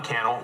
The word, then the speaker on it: Cannell: Let me know and follow me, Cannell, rhymes with YouTube channel, if you want more YouTube tips like this.